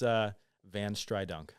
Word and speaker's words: VanStrydonk: So, but yeah, it's VanStrydonk.